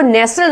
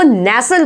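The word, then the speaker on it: nestle: नेक्स्ट word क्या है, नेस्टल, नेस्टल बोलते हैं आप इसको, जी नहीं, इसको नेस्टल नहीं, इसको नेसल बोला जाएगा, क्या बोला जाएगा, नेसल। इसमें भी टी क्या है, साइलेंट है।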